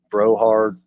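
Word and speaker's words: Brouhard: with then you have Eli brard or Brohard I'm I think I'm pronouncing that last name right it's BR o u hard broh hard then you got julier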